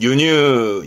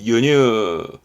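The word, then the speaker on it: 輸入: 윤유 조심해요 순데 독이 유라 그래서 잘 보입니다 발음은 유뉴 유뉴 수출이 유시스 유시스 요게 수송 예 수송 나르는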